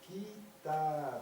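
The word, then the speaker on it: كتاب: Donc là, ça se prononce kitab. Là, c'est un aleph long.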